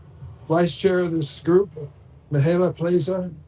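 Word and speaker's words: Mihaela Plesa: Chair of this group, Mihaela Plaza. Am I close, Mihaela? Thank you so much. Is that close to pronunciation? Yes, you did very well. Thank you. Good morning, everybody. My name is Mihaela Plisa, and I proudly serve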